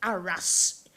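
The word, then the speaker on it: Arras: the tunnel of at Aras in World War I actually I went there and they call it AR they don't the French don't have pronounce the last letter in a word ARA and Charlie upam who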